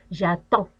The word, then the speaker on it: attends: Et bien sûr, je regarde le D qui ne se prononce pas. J'attends.